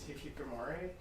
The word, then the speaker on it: hikikomori: of phenomenon i i always mess up the pronunciation on the thing it's hikikomori there are several things you can do